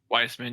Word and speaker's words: Weissman: uh I oh gosh I don't know to pronounce his last name but Joshua Joshua is it Weissman Weissman yeah yeah he has 8.9 million Subs I